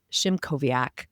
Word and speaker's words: Szymkowiak: Please join me in welcoming Jamie Shimoviaak.